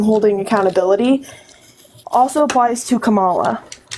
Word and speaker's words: Kamala: accountability also applies to Kamala it's Kamala Kamala Kamala it's not the same thing names don't have multiple pronunciations it's one just might